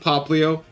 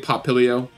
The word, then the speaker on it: Popplio: I do know that it's pronounced Popplio, but I am going to continue pronouncing it Popplio, because that just feels better for me.